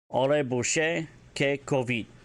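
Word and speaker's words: ori'buyce kih'kovid: Ore bouche ke covid. A Mandalorian insult and term of derision for someone who, with an oversense, developed sense of authority. Ore bouche ke covid.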